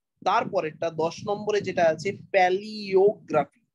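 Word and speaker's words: palaeography: তারপরেরটা 10 নম্বরে যেটা আছে প্যালিওগ্রাফি। উচ্চারণটা খেয়াল রাখো, এখানে কিন্তু এ ই থাকলেও উচ্চারণ হবে ই এর মতো। প্যালিওগ্রাফি, PALA-EO, paleo, PALA-EO, প্যালিওগ্রাফি।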